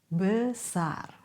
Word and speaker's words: besar: The rule is we have two common sounds for the letter E. A as Schwa, and A as open vowel. For example, besar, Schwa, besar, benar, cepat, teman.